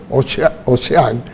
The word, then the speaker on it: Auchan: que el primera cadena fue oan se escribe auchan No es cierto y